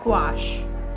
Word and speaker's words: gouache: I used gouache. That's how it's pronounced, right?